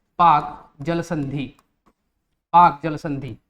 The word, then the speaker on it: Palk: क्या बोलते हैं, पाक जल संधि। पाक जल संधि, पाक की स्पेलिंग होती है PALK, ठीक है ना, PAK नहीं PALK, पाक जल संधि, ठीक है ना।